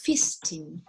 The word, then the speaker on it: feasting: Entonces, fijaros, festin is written like that, but when you pronounce, you have to pronounce feasting, okay?